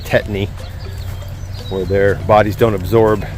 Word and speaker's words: tetany: Cattle can get a situation called, it's pronounced tetany, where their bodies don't absorb the magnesium.